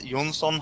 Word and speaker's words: Johnsson: thanks for having me my name is yonson H if you pronounce it in Swedish is usually the